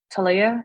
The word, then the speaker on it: Taleah: passing it over to talia and i i apologize for mispronouncing your name if i did so please for the media to get it right as well um you actually said it perfectly hello my name is